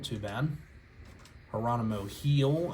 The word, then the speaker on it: Gil: Geronimo Heel, I know it's spelled G-I-L, like Gil, but it was pronounced Heel.